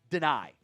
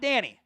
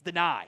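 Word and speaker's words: Dani: Malachi Fields, Antonio Williams, deny Dennis Sutton. It is, by the way, it is pronounced deny. It's not Danny, it's deny, which is stock up, right?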